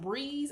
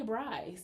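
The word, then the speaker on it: Briize: Like those stupid OT6 brizzes that said, well, apparently it's pronounced breeze. I don't know why I say Brize.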